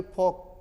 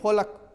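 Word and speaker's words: folk: ये नहीं जो फोलक, नो फोलक, PL में पाम, इन्हें पालम, अब तो सीख गया ना।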